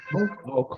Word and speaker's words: walk: How do we say, okay, Walk. how do we Walk. say this? Walk, Walk. Walk. walk, Walk. Walk, walk. walk, The letter L, we don't pronounce it.